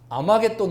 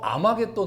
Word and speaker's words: 아마겟돈: 우리 그 계시를 해가면 아마겟돈 으로 발음되는 데 저게 헬라어 아마겟돈 으로 발음되는 거에요 그래서 저기를 이제 그